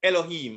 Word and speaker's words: Elohim: the mem the final form so it's e-l-o-h-i-y-m elohim and it is pronounced this way strong's h430 entry one eloach second entry elohim elohim and the third entry is a singular